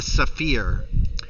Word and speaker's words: Sapheer: Yeah, called the Saphir. So they use the word fear a lot, and it's spelled Sapheer.